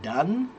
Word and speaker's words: done: Jing, you want to know how to pronounce the word done?